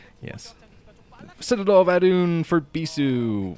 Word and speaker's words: Bisu: sad all Von for bisu which is not rhyme with c and uh he's preparing